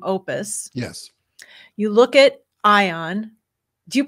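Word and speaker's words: Aion: You look at Ion. Do you pronounce it Ion?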